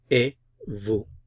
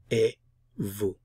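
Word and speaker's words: et vous: you mer and you e Vu Vu notice I'm not pronouncing the T I'm not pronouncing the s e Vu e Vu so now you can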